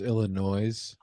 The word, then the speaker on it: Illinois: That was in Illinois. Nice. They did it today. Wow. Yeah, it's pronounced Illinois, right?